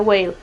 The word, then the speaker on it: Whale: fue dirigida por James whale si no estoy mal se pronuncia wale wes para la gente